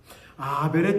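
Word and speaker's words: הבל: 하벨의 뜻은 뭔고 하면요. 하벨이라는 겁니다. 하벨. 전도서에서 헛되고 헛되도다라고 할 때 히브리어 하이 쓰이거든요.이 하벨이 아벨의 히브리어 그 발음입니다.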